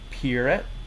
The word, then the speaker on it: Perrett: And, um, real quick, your name is Puret. Am I pronouncing that Lat right?